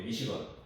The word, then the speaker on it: Michigan: 우리가 알고 있는 미시간 대학이에요. 미시간 대학, 그렇죠? 미시건이 영어로는 이제 미시건, 건으로 이제 읽으시면 돼요.